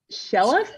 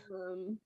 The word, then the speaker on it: Shillelagh: Can't pronounce this. Shellef? Shellef? Shillelagh? Yeah. Shillelagh? Shillelagh.